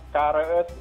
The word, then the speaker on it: Kres: Baca yang benar itu apa? Kares, Mbak. Kares?